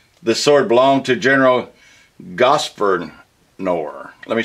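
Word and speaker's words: Grosvenor: This sword belonged to General Gosvernor. Let me spell it.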